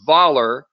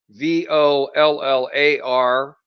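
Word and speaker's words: Vollar: interesting company called vault it's like it's voller vol lar you know it rhymes with dollar and as you can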